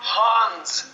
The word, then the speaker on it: Han: It is not Han's Solo. It's pronounced... Actually, it's pronounced Han.